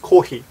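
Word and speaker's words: コーヒー: That coffee is not coffee, it's kohi.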